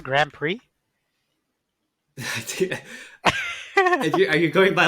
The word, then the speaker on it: Grand Prix: that knowledge on that spell in p r i x how that turns into pre but uh now is